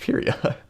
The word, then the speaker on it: Pyria: I pronounce it Pyria. I stand by that pronunciation. I mean, of course, Tui can pronounce it however she wants. It's her universe, but also Pyria is a word in the English lexicon, and it's pronounced Pyria.